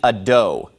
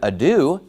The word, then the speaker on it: ado: find it bizarre that he doesn't know how to pronounce the word ad do he pronounces it ad do well obviously if you say Ad do no one's going to know what you're talking about but if you say the word Ado that's a common word that people have